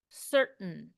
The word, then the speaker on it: certain: pronunciation certain certain the this whole last part the T I'm making it almost a stop certain certain I don't know I don't even really say the T I don't say the a or the I I go straight to the N certain certain is how